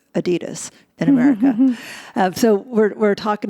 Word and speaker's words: Adidas: added s is pronounced adidas in America so we're talking about your Taiwanese